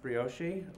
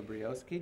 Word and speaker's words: Brioshi: Our next speaker is Dr. Marcos Brioshi, or Brioski, depending upon your sex, how you say it, right?